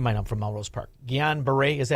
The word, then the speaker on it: Guillain-Barré: Guillain-Barré, is that how you say it? Oh, the thing I have? Yeah. GBS, it's Guillain-Barré syndrome.